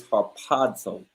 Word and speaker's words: harpazo: then let's get the definition strong G 726 harpazo Haro exactly right so the word is Haro okay and what does that mean okay for